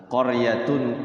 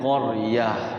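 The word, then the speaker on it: قرية: Fathatain tamarbutoh itu kalau wakaf semua tantin tuntin sukunnya ketika wakaf dibaca huruf H, hamzah sukun. Mardudatun, mardudah ya. Apalagi qaryatun, qaryah gitu. Lailatun, lailah gitu.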